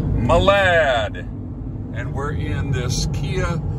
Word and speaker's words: Malad: it's spelled with an M Malad and it's pronounced Malad Malad and we're in this Kia Sereno s sento